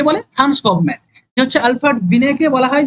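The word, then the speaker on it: Binet: জন্য নির্দেশ দেয়া হয়তো এরপরে 1905 সালের এইযে বিন হ্যাব বল বিনেদ বিনেদ এগুলো তো বিদেশী নাম আমরা ভারতীয়রা উচ্চারণ করলে অলরেডি সমস্যা হবে স্পেলিংটা ভুল হবে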